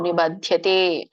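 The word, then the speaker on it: निबध्यते: ಲೋಕಾನ್ ನಹಂತಿ ನ ನಿಬದ್ಯತೆ ನಿಬದ್ಯತೆ ದ ಮಾತ್ರ ಮಹಾಪ್ರಾಣ ಇದೆ ಮತ್ತೆ ಯ ಕೇಳಿಸಬೇಕು ನಿಬಧ್ಯತೆ ಮೊದಲನೇ ಚರಣದಲ್ಲಿ ನಹಂಕೃತವನ್ನ ಬಿಡಿಸಿದಾಗ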